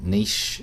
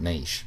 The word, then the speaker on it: niche: I do know how the Yanks pronounce it, but I can only go so far. I call it niche. I call it niche, for goodness sake, not niche.